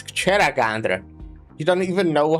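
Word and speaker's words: Kjeragandr: Yer Yeragander. Is that how you pronounced it? It's Cheragandra.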